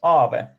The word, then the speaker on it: Aave: It's pronounced Aave. So basically, okay. Aave comes from Finnish word, which is ghost.